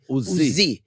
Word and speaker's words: Uzi: When you say my strength, you should say Uzi.